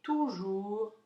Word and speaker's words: toujours: Est toujours triste. Attention, au bout de toujours, il y a une lettre muette.